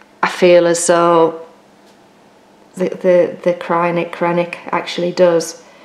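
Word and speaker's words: Kreinik: I generally would use Krynick, depending on how you want to pronounce it. I know Krynick's a proper way of saying it.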